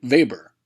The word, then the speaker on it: Weber: in 1909 by alfred weber who was a german economist and is for this reason we pronounce it Weber he devised his model